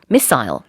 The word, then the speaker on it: missile: newest라고 했으니까 사실 그냥 new만 해도 새로운 것인데 newest, 그러니까 최신의 가장 새로운 그런 hypersonic, 극초음속의 missile. 우리는 미사일이라고 하지만 영어에서는 S 발음이 좀 강해요. 그래서 missile이라고 합니다.